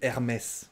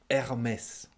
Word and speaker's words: Hermès: hermès hermès très différent vous prononcez le h la première lettre we aim is remise ah ouais alors très différent on dit hermès en français hermès la huitième c'est aïda